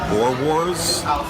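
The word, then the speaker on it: boerewors: Okay, so for my appetizer, I had I think they're It's pronounced Boer Wars, and spiced eggs.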